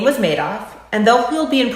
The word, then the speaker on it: Madoff: to pronounce it and he said made off like he made off with the people's money if i named a